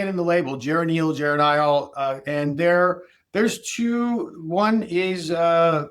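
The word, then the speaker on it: geranylgeranyl: Geranyl, geranyl.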